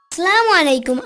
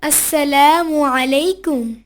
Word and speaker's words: আসসালামু আলাইকুম: খালিদ আমি আসছি আসালামু আলাইকুম আনাস সালাম হবে আসসালামু আলাইকুম ও আচ্ছা আসসালামু আলাইকুম হ্যাঁ তুমি ঠিকই বলেছ তবে সালামে আইনের উচ্চারণ সঠিক হওয়া যায় তোমাকে যদি কেউ আসসালামু